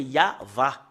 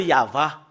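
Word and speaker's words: יהוה: Depuis ici jusque-là, c'est Yahva. Voilà. Voilà le Yahva.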